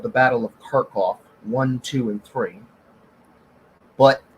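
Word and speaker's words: Kharkov: called the battle of karkov one two and three but that name is slightly misleading because that's the russian pronounce pronouncing of that city's name um although to be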